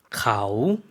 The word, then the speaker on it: เขา: เขา 네. 사성이죠. 내려갔다가 올라오는 발음으로 해주시면 되겠습니다.